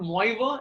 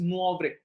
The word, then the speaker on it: Moivre: so this is called the de theorem the pronunciation is not MOA it is muav De the some of you would have learned